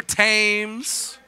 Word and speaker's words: Thames: bridge over the river thames don't you dare pronounce that h yeah not dare pronounce